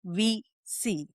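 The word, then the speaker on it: WEC: UEC is the acronym, but the way we pronounce it is VC. As in, we see each other, we acknowledge Yeah.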